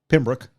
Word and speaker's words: Pembroke: roland is located the the town looks like it would be pronounced pembroke but down there they pronounced it pembroke pembert yeah so it was